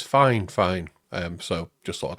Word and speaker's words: FiFine: Now this is a dynamic microphone made by Fine Fine. That is actually the way you're supposed to pronounce it. They told me. I've always thought it was Fine, but it's Fine Fine.